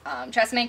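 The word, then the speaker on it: TRESemmé: My last physical item is Tresemme Keratin Smooth Infusing serum.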